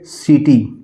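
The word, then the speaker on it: city: बात यह है कि अगर सी के बाद ई आई ईई वाई आया हुआ है सी के बाद अगर आई ई वाई हुआ है आया हुआ है तो उसका सीधे सेधे प्रोनाउंस हम स के रूप में करेंगे जैसे मान लीजिए लिखा हुआ है सी आई टी वाई इसको हम क्या पढ़ेंगे किटी नहीं पढ़ेंगे इसको हम पढ़ेंगे सीटी इसी तरह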